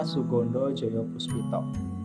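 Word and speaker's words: Soegondo Djojopoespito: fenomenal ya dengan nama Sugondo Joyo Puspito. Ya, seperti ini menggunakan ejaan lama ya. Jadi O dan E di sini dibacanya U ya.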